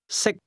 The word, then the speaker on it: 識: 識， The difference between the two is that can is spoken with a high level tone, and to eat is pronounced at a low level.